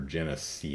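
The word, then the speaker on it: Genisys: haven't seen salvation or genesee yes and I say it like that because they spell it like that um cannon fodder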